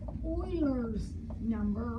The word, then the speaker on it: Euler's: E is called Euler's Euler's constant. It's spelled a little different than the Houston Oilers, but it's said the same way.